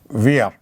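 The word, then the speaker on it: wir: and its plural is weir weir in fact it is return as if it is weird what the first for the sake of pronunciation we say weir you know german is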